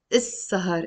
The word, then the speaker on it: السهر: Which means, with the L before, the lam is not pronounced.